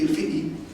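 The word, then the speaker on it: الفقي: It's established in Cairo in 1926 by someone called Muhammad Hamad al-Fiqi, Egyptian pronunciation would be al-Fiqi.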